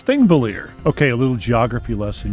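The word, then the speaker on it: Þingvellir: Nope, this one I can pronounce. It's Thingvellir.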